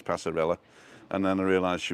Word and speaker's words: Passarella: do you pronounce this is it pasarella or pasarea with the two l's everybody was saying pasarella